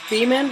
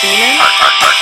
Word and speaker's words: Beaman: pronounced Beaman? Yes, it is. Beaman.